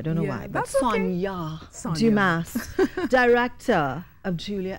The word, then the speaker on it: Sonja: Pronounced. I always thought it was Sonja, though. I don't know why. But that's Sonja.